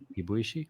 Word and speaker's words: Kibuishi: Kibuishi. Yes. Kibuishi is how you pronounce his name.